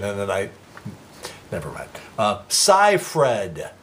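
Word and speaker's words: Seyfried: that I never met sigh Fred sigh fred is the correct pronunciation of amanda's last night it was 44 years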